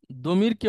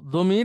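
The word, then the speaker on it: ضمير: জমিরকে ওনারা জমির বলে ওই যে সেই দই দ এর বিতর্ক বা দ্বের উচ্চারণ এটা হচ্ছে এমন ভাবে উচ্চারণ হয় আরবিতে জিহবা দাঁত এসব কিছু মিলিয়ে এটা অনেকটা জয় এর মত শোনা যায় তো দমির আমরা বলবো আপনাদেরকে আপনারাও দমির বলবেন কিন্তু কেউ যদি এটাকে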